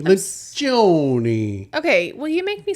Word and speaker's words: Lencioni: Not Lencioni, Lencioni.